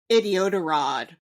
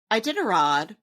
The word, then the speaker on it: Iditarod: alerted me that while we mispronounced Iditarod, their correction of it to Idiotarod was also wrong. So, Iditarod is a race where some very furry dogs pull people across Alaska in sleds, I think.